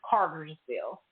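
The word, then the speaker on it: Cartersville: minutes away from me is Carterville that's how you say it Carterville Carter say Carter and on the end Carterville Carterville okay yeah I'm thinking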